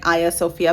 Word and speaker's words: Hagia Sophia: sites and places uh the way the turkish people pronounce it so um that's why i am pronouncing it aya sofia because that is how